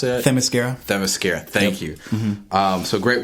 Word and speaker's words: Themyscira: I felt like they really brought you into the world, both the early era, the current era, and how do you pronounce it? Themyscira.